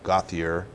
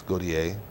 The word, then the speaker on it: Gauthier: Back east, it's Gauthier. In Louisiana, you know, it's Gauthier. And the Canadians pronounce it Gauthier pretty much.